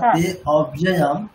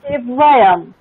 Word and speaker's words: তেব্যয়ম: ক্লাসে আলোচনা করা হলো এই যে অংশটা তে অব্যয়ম, এটার কোনো উচ্চারণ হবে না। ওটা কি বললাম? অকার ছিল তার ইন্ডিকেশন। তেব্যয়ম, তেব্যয়ম হবে স্যার।